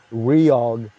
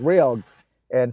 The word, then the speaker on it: REOG: And Sepultura, I'll give you more story how much Sepultura inspired Reog in terms of naming of the band.